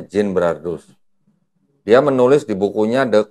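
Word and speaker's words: Genebrardus: Ginbrardus tulisannya. Bacanya Ginbrardus.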